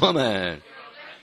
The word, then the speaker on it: woman: You're practically a woman. Alright, 그러니까 사람들이 막 재밌어하는 건데요. Woman. 요 단어를 이렇게 따로 강의하는 이유는 W-O-M-A-N 발음이잖아.